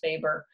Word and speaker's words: Weber: on social class, specifically Karl Marx and Max Weber, but it's pronounced Max Weber.